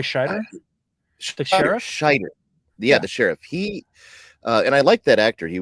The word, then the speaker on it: Scheider: the and then Roy Schneider's interesting uh or no showman how do you say his name um not Schneider Not sure I mean Roy Scheider yeah the sheriff he